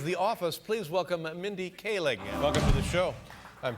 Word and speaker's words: Kaling: office please welcome mindy kaling welcome to the show i'm terribly embarrassed uh i mispronounced your name i said cowling but it's kaling is that correct that is correct yeah